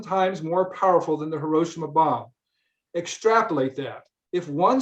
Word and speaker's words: Hiroshima: Oh, by the way, we checked with a Japanese fellow how to pronounce Hiroshima, because we say Hiroshima in English, but he said the correct way to say it in Japanese is Hiroshima.